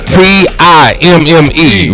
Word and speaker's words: Timme: It's Timme. Remember that. Tim is me.